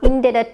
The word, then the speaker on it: indebted: I'm indebted to you. මෙතන බලන්න indebted කියන මෙන්න මේ word එකේ B අකුරක් තිබුණාට මේක pronounce වෙන්නේ නැහැ. මේ B letter එක මෙතනදී silent letter එකක් විදිහට තමයි act කරන්නේ.